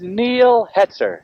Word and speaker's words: Neil Hetzer: numerous times last year let's get the correct name this time my name is neil hetzer neil hetzer neil hester